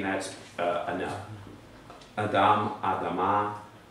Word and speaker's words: Adam: a stronger sound than Adam. Adam. I don't make a full TH sound like some do. Some say Adam. I'm like, that's an Americanized TH.